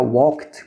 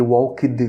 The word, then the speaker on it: walked: Então, pronunciar walked com T é mais fácil do que walked com ED, então pronunciem com T.